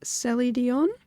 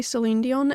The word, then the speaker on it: sellidionne: to pronounce this right celie dion i keep going to say celine dion and that's so not correct um celie dion i